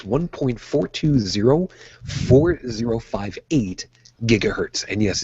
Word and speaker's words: gigahertz: is 1.42 gigahertz actually technically it's 1.42 458 gigahertz and yes it's properly pronounced gigahertz now is that important yeah actually